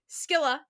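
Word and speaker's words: Scylla: I also mispronounced Sila too. So he's doing better than I am cuz it was fully Skila.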